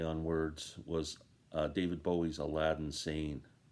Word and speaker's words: Aladdin Sane: words, was David Bowie's Aladdin Sane. It's spelt like Aladdin Sane, but it's, when you say it, it's Alad insane.